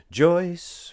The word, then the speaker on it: Joyce: Joyce rhymes with Royce, and you know that it does.